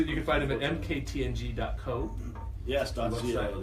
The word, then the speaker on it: MKTNG: out yeah it's kinda president and CEO you pronounce it MK t ng you're dealing the only pronounce the letters absolutely